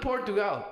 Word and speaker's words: Portugal: It's not Portugal.